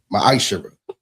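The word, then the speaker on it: מעשר: You can find this in the book of numbers 18 21 and the book of Malachi 3 8-10 means 10th in Hebrew and is pronounced maisher.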